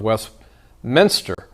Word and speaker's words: Westminster: back to travis blaise the head coach of west minster you know i didn't pronounce it right jace told me that no